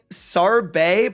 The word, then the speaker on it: Sarbe: Sarbe pronounced like sorbet.